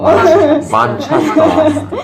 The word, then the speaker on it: 맨체스터: 영국 맨체스터에서 만들어진 밴드고 만체스터 발음이 아주 그리고 7, 80년대 만체스터라 했네요. 뭐 어때? 네, 만체스터가 맞죠? 발음이. 그렇죠. 그쪽 현지 본토 발음이니까.